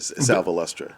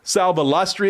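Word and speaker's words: Sal Valestra: Sal Velustra. Sal Ballatri, is that how I say his name?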